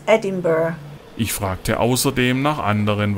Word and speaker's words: Edinburgh: Das Personal an der Campingplatzrezeption war sprachlich sehr gut geschult und um deutliche und verständliche Aussprache bemüht. It's Edinburgh.